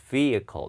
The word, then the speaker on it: vehicle: 여기 H 발음 하지 말고 vehicle 이렇게 읽고요.